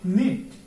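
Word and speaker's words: knit: ওকে, উচ্চারণ এটা কি হবে নো, অর্থ হচ্ছে জানা। এরপর আমরা দেখব নিট, কে এন আই টি নিট, অর্থ বোনা, এন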